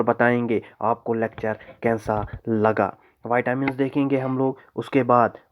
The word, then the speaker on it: vitamin: बहुत सारे लोग जो हैं इसे विटामिन्स भी बोलते हैं। चलो आप कुछ भी बोलो, लेकिन मोर अप्रोप्रिएट प्रोनाउंसिएशन जो है वो वाइटामिन है, वाइटामिन नॉट विटामिन।